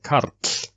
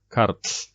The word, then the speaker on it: Karl: Karl is actually an example of a word that has RL, ends with the letters RL, RL, and actually the same, it's a similar pronunciation, though not the same. Karl, Karl. You make the R sound a little bit. Maybe not exaggerated as I am doing now, because I want this to be heard.